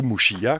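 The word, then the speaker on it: Muxía: Et ensuite, j'avais rejoint Muxia, ou Muxia, quand on prononce à la galicienne, en 2 étapes.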